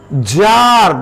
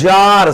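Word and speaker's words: czar: Jar, this is Jar, C-Z-A-R, or T-Z-A-R, this is Jar. The king of Russia is called Jar. C or T is silent, it is not pronounced.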